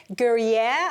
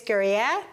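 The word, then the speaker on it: Gruyère: We're going to need a whole bunch of grated Gruyere, I think that's how it's pronounced, cheese, Gruyere cheese, which is a Swiss, kind of like a marriage between a Swiss and a Parmesan.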